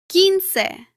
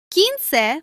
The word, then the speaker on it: quince: The U is usually silent in combinations such as QUE and QUI. For example, queso. Queso means cheese. Quince. Quince means 15.